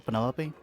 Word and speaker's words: Penelope: is that short for Penelope officially yes but I never can be bothered with all four syllables of it Penelope sounds a little